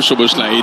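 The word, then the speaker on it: Szoboszlai: Oh, Choboslai dans le dos de match, vous le prononcerez bien, Choboslai, puisque c'est lui qui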